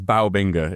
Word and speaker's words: Bao Binga: I mean, technically, it's Bao Binga. It was like a Chinese dessert I had when I lived in Shanghai.